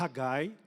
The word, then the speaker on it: Haggai: Ageu o profeta Gil o nome no hebraico a pronunciar haggai Ageu Então significa minha